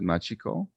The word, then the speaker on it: Machiko: Am I pronouncing the first name correctly? I haven't had the pleasure of meeting her. Is it Machiko?